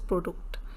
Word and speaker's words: Produkt: product is das Produkt, same like English but we pronounce as Produkt, desk as Schreibtisch, printer der Drucker, suit der Anzug, tie die Krawatte, shirt das Hemd, profession der Beruf.